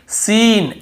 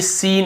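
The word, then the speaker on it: scene: और देखिए सीन एस इ एन ई सीन ऐसे पढ़ रहे हैं।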